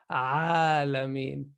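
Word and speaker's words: العالمين: That's why the lam is pronounced entirely. So we're saying al-alameen because it's easy.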